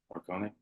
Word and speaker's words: Morricone: That's how you say his name, Morricone.